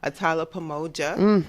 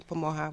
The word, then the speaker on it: Pamoja: I'm Pamoja, or you could say Pamoja. If you'd like, if you want to pronounce it Spanish, you could say Pamoja with the J sounding like an H.